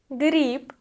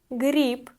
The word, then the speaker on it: Гриб: Гриб. Гриб. B. At the end of the word we pronounce like P. Гриб. Гриб.